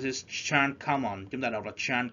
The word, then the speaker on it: Jeanne Calment: You pronounce it Chan Kamon.